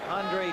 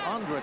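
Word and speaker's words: Aundra: We were told that he's changed the pronunciation of his name, spelled A-U-N-D-R-A, from Andra, as he was known in Green Bay, to Andre, as he's known here in New Orleans.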